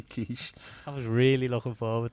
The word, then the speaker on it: quiche: Now, if I was to pronounce it another way, you don't have like to mispronounce things. What would I have to pronounce that as? Like quick chi?